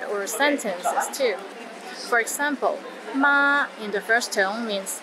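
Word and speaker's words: 馬: sentences too for example ma in the first tone means mother while ma in the fourth tone means linen and Ma in the fifth tone means horse don't get them mixed up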